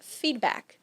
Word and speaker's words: feedback: Ou feedback, que seria feedback.